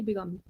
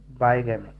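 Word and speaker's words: bigamy: करते हैं सर इसको, बाईगैमी प्रोनाउंसिएट करते हैं कि बिगामी? बाईगैमी, बाईगैमी का मतलब ये होता है कि आपकी पहले से बीवी है लेकिन आप बोल।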